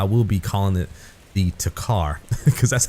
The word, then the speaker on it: Tikhar: other one is called I call it the Tikhar, but I've heard people pronounce it Tikhar. They leave the K silent a lot of times, and many of you guys know this.